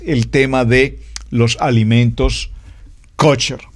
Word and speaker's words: kosher: escribe pastor es que no se dice kutcher se dice kosher bueno y eso me